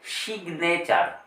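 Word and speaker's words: signature: কিন্তু এটার ক্ষেত্রে দেখুন এটাকে বলা হবে সিগনেচার সিগনেচার এই জি এর উচ্চারণ গ হিসেবে বলা হচ্ছে সিগনেচার তাহলে একই রকম দেখুন জি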